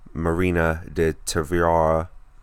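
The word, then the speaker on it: Marina de Tavira: actress in a supporting role got Amy Adams marina did Tuvia that's how you pronounce it Regina King Emma Stone and Rachel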